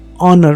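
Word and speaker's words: honour: consent letter है परंतु यहां पर एचसी साइलेंट है हम इसको हार नहीं पड़ते परंतु ओनर पड़ते हैं इसीलिए उन और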